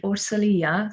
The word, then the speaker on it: Orsolya: your name well it's it's a hungarian name so it's commode but as i've been living in luxembourg for almost 15 years people call me orsalia so i let them